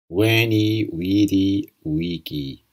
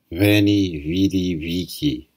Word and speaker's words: Veni, vidi, vici: The classical pronunciation is how it is believed Caesar himself would have pronounced the phrase, Veni, vidi, vici.